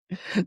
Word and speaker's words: Gloucester: us today, talking about the Massachusetts town of Gloucester. Gloucester. Is We literally just went over how to pronounce it. that wrong? Tori, can you help us out here? Gloucester.